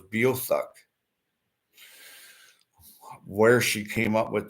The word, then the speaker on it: Beothuk: You might know it as Beothic, but I had a linguistics professor tell me it was Beothuk.